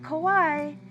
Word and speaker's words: Kauaʻi: Oahu we go to Kawaii not kawaii kawaii make sure your mouth is a little tighter because it's an ooh it's a u there Kawaii and the last